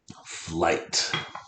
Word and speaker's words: flight: Flight is a 1-syllable word. Like fl, like flood, flew, fling, flies, I. What is the 3-letter multiple letter phonogram? Right. I, 3-letter I.